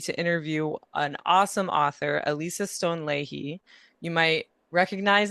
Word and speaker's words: Elisa: So, welcome Alisa. I'm saying that right. Right. Yeah. Yeah. Alisa, if you want to pronounce it the Spanish.